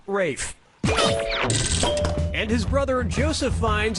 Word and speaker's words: Ralph: three yeah ray finds first name is spelled like Ralph but pronounced Rafe and his brother Joseph